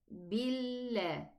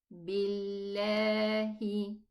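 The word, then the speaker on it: بِاللَّهِ: Make sure the lam in the name of Allah has no ghunna. It's just a lam shadda. Billah. Billah. And just give it a little bit longer time to be pronounced.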